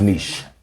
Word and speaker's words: niche: niche no i didn't but then how you pronounce the letters together with the it's niche yes i quiche yes yeah so it's like